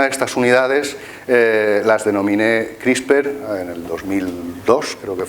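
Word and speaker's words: CRISPR: eh Por lo menos crisper es una palabra que incluso los ingleses no saben muy bien cómo pronunciarla nos inventamos que hay una e por ahí en medio y ya está crisper las Estos son las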